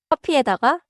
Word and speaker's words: 커피에다가: 에다가 often flows like one smooth chunk after the noun. 커피에다가, not 커피에다가 with big breaks.